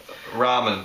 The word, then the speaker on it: ramen: the only Raymond noodles is it Raymond noodles ramen ramen noodles now as a body